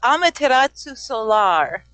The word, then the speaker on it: Amaterasu Solar: So, I guess a good place to start is first the pronouncing your name. It's Amaterasu Solar.